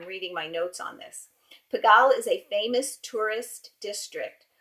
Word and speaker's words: Pigalle: looked up that's how I found out this pronunciation is piggle and it's an area in Paris and it's